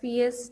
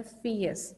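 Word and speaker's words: fierce: ही was frightened of द फियर्स डॉग. इसमें इसकी pronunciation क्या है वर्ड की, that is फियर्स, are slightly silent इसमें आता है फियर्स. The sound is, the pronunciation is फियर्स.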